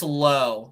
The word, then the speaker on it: Lowe: Or is it Lowe or Lau? I've heard it both ways. Great question. I believe it's Lowe, so I think I said it wrong.